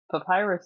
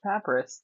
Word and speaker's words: papyrus: everyone learns like uh learning that Papyrus is not pronounced papus that that is another